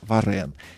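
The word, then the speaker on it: Varin: Фамилия у него на самом деле Варин, но на французский манера она произносится Варен.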